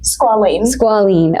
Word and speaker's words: squalene: Squalene. Yeah, totally butchered that. Yeah. How do you say it again? Squalene. Okay, squalene.